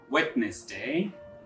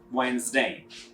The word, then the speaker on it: Wednesday: to pronounce this word don't say wetness day try to pronounce it like Wednesday the second one is